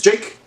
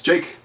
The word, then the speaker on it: Jake: just tell you again, my name is Jake, not Jacob. It's Jake. On my birth certificate, it's spelled just J-A-K-E.